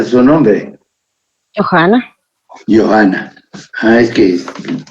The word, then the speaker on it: Johana: Johana. Johana. Ah, es que utiliza la H como J.